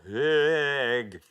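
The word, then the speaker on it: Høeg: Miss Smiller's Feeling for Blank, Peter Higg. That's how you're meant to pronounce it, I think.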